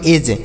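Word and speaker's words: edge: ई से पढ़ेंगे ए और डी का उच्चारण नहीं करेंगे और जी इ से ज पढ़ेंगे तो इसे पढ़ेंगे एज ई डी जी ई एज पढ़ेंगे इसे लिखा जाएगा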